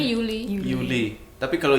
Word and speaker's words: Juli: Oh, Juli bacanya jadi Yuli.